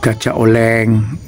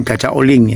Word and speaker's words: Gajah Oling: Biasanya seperti itu, soalnya ada lukisan ya, batik khas Banyuwangi, gajah oleng, bukan gajah oleng, gajah oling ya. Gajah oling ya bacanya ya, kangkung stingkes misalnya, tapi tidak ada kayaknya kangkung stingkes.